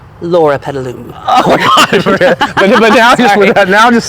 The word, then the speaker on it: Loropetalum: So, everyone up here at Covington's has probably heard these pronounced a million different ways from customers. That is correct. That's why I'm going to let you say it correctly. The name is loropetalum, loropetalum.